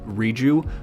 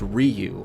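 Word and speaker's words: Riju: I always thought the um the Gerudo princess or Gerudo Queen, Riu, I always thought it was pronounced Ryu. I always thought the J was like pronounced with a Y.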